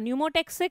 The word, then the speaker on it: pneumotaxic: Though pneumo's P is silent.